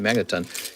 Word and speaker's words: Magneton: argue magnaten's middle Evolution magnet magnet yeah I said it right Magneton You could argue that's